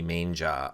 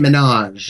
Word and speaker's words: Minaj: The only thing I know about her is she's been fighting with Nicki Manja on Twitter, and I know that because of Jason. Nicki Minaj.